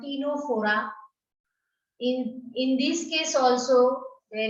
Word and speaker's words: Ctenophora: So we will move to the next class, that is actually called Ctenophora. In this case also there is a twist in the story, because C is silent here also.